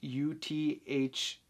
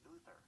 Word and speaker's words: Uther: How to pronounce U-T-H-E-R. That's pronounced Uther.